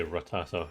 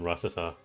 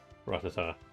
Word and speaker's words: Rattata: Trying desperately to force myself to say Rattata rather than Ratata cuz I've had it wrong all this time.